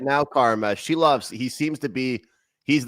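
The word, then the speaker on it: Šilovs: Did I pronounce that right? Shilovs? Yeah, Shilovs.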